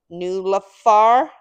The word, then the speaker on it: NIULAFR: opening up my new Universal grounding mat from new lafar so that's spelled n i u l a f this